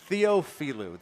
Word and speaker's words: Theophilou: That is Mia Heppelman, Haley Chen, and Anna Theophilou. And I just tried to rattle through that, and I didn't do it right. Theophilou, that is how you say it.